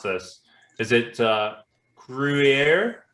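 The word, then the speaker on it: Gruyère: I don't want to get too much back into the old podcast, but I'm probably going to mispronounce this. Is it Gruyere? Gruyere, yes.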